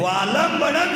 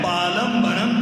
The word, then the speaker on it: वालंबनम: भक्तांबर जी जिंदगी भर पढ़ रहे हैं, वालंबनम शब्द है, हम बालंबनम बोल रहे हैं।